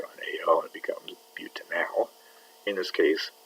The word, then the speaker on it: butanal: It's not pronounced anal, it's pronounced butanal.